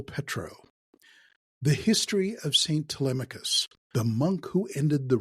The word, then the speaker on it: Telemachus: This is the story of Saint Telemachus, or pronounced Telemachus, whose festival is celebrated on January 1st and has been remembered throughout the last 1600 years.